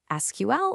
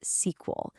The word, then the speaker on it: SQL: Is it SQL or is it SQL? Well, it turns out its name actually came from some earlier IBM projects called Square and then SQL. So yeah, whether you spell it out or say SQL, you're pretty much in the clear.